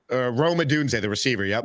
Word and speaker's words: Odunze: Ndozi? Rome Odunze, the receiver. Yep. Odunze.